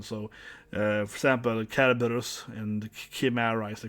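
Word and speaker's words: Cerberus: It's like Caraberus, it's pronounced like K because it's a K in the, yeah. So you spell with a C, right? But it's a hard K in Old Greek and Roman.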